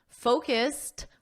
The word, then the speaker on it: focused: in the past simple today we focused focused with a soft T we focused on sentence